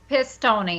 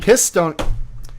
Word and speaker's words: Pistone: Pistone. Pistone.